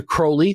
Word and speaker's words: Crowley: uh mainly playing the part of Alistister Crowley which this book demands I say rhymes with holy though I've heard it many other ways uh but also playing